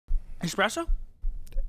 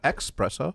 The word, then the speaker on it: espresso: Espresso? Espresso, not expresso.